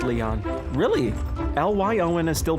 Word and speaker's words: Lyon: It is pronounced Leon. Really? L-Y-O-N is still pronounced Leon.